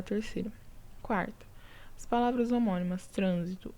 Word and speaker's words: trânsito: e paroxítona correto pessoal proparoxítona que tem a antepenúltima sílaba tônica tá então aqui eu tenho três sílabas trânsito né e a tônica que marcada pelo assento toda proparoxítona é acentuada é a antepenúltima a trânsito já muda